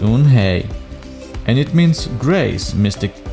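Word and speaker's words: Unhei: turned to joy she nodded slowly yes it's pronounced un hey and it means grace mystic kim added yoon hey joy said slowly and this time perfectly it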